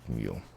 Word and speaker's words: mu: We pronounce it mu.